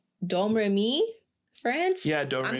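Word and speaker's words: Domrémy: in, I think it's Domremy, France? Yeah, Do Re I'm going to Mi. butcher. I never talk No, French. it's so Do Re Mi. I'm not kidding. That's how it's said.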